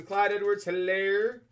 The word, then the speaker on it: Clyde Edwards-Hilaire: Maybe some Clyde Edwards-Hilaire. I know the H is silent.